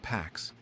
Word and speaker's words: P4X: So P4X takes precautions. He adopts a pseudonym to hide behind. He chooses P4X, pronounced PAX, a cheeky nod to enforcing peace through punishment.